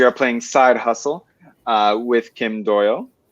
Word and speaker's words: Kim Doyal: We are playing Side Hustle with Kim Doyal. Am I pronouncing that right? Yeah. Absolutely.